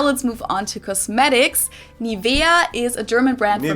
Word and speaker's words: Nivea: pronunciation pretty funny here English native speakers usually say Nivea Nivea in German we say Nivea Nivea so the emphasis is got Nivea this is